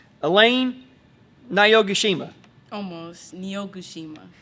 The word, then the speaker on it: Niyogoshima: Niyogoshima. Niyogoshima.